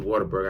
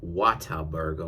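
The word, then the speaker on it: Whataburger: go down the Water Burger shout outs to waterburger I just made you some more money they can't go down to waterburger and and and or oh let me pronounce it their way wat Burger Water Burger and go ahead and get themselves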